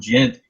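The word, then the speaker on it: djent: And when I was actually looking it up on Google, they actually I heard Nova Storm use the term gent, and I just realized that is spelled D-J-E-N-T.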